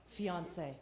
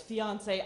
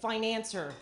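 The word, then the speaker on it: fiancé: romance in their eyes fiance I never got into that word I did not like saying it uh I actually I never pronounced it properly because I was always pronouncing it financer which turns out it's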